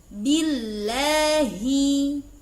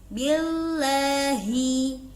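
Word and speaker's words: بِاللهِ: Selanjutnya yakni billahi. Sahabat rahimakumullah, sering terjadi kekeliruan ketika mengucap billahi, yakni lidah tampak keluar. Billahi ini kurang tepat. Yang tepat adalah lam berada di dalam. Billah tepat di makhrajul huruf lam.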